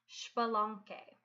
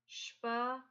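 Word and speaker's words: Xbalanqué: little friend his twin, his name begins with an X, that's actually pronounced Shpalonke. So, Shpalonke. You can see how that X at the beginning actually just makes a sh sound, and then you pronounce the rest of it as you would expect, with the QUE making a hard K sound.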